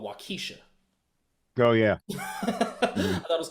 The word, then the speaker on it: Waukesha: in my mind I thought it was called Waukesha go yeah that was called wakisha but that's not the correct way to pronounce no Waukesha Waukesha Waukesha Your Studios at Waukesha right yeah so